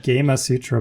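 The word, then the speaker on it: Gamasutra: don't actually know how you would pronounce the name of this website but it's been around forever GMA satura I call it gamma Sutra but yeah you're probably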